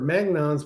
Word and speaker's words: magnon: Mag, is it Am I pronouncing that right? Magnons? Magnons? Magnons, yeah. Uh-huh.